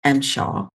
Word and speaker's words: MSHA: It's pronounced Mshaw.